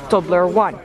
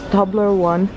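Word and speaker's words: Toblerone: Tobler one so that's how you're supposed to pronounce it Tobler one not table wrong well Oh doing it wrong but do this Tobler one porn like mm-hmm what is what what what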